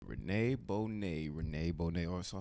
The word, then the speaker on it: Bonet: Rene Bonet.